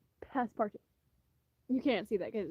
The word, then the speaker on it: Passepartout: I was trying to remember how you pronounce it because it looks like Passepartout, but he's a Frenchman, so you have to remember half of the letters aren't they aren't they don't matter. Passepartout.